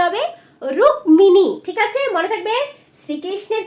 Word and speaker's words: রুক্মিণী: ওকে, দেন হচ্ছে কি দেখো এই বানানটা কিন্তু অনেকেই আমরা জানি না তাই তো, রুক্মিণী, রুক্মিণী, এটার উচ্চারণটা কি হবে রুক্মিণী, ঠিক আছে মনে থাকবে।